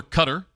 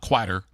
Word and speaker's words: Qatar: Uh, Canada over cutter. Not Qatar. Not quatter. Cutter.